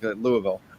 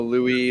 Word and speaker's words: Louisville: There's no Louis. There's no S. There's no Louisville. So Louisville. if you've been there longer, is it just two syllables? Is it Louisville? Louisville. Louisville? It's if you're a local, this is kind of like the way to tell if you're from here or not. It's just Louisville.